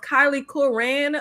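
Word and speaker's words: Kyliegh Curran: baby name I think her name is pronounced Kylie Kuran the girl who played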